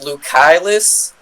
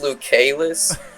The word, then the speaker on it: Lucaelus: to explain where the name came from it's lucillus but it looks like it's pronounced lucaylus so like it started out my channel was